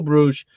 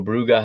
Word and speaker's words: Bruges: in port or two Bruges or bruga however you want to pronounce it they go to Belgium